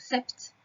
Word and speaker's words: sept: 7, je te rappelle qu'il y a un P qui est muet dans 7. On pourrait le lire sept.